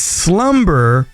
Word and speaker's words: SLVMBER: And this is Slumber, and that's spelt with a V. That's SLVMBER.